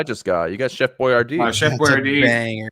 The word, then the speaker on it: Boyardee: Oh, Boyardee. That's how you pronounce My Google autofill did Chef Boyardee's nuts.